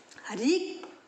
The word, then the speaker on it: ऋ: ऋ की मात्रा का उच्चारण भी र की तरह होता है।